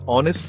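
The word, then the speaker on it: honest: For example an ऑनेस्ट मैन क्योंकि ऑनेस्ट में H silent होता है।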